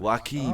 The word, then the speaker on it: Joaquin: Joaquin. I thought it was Jackie.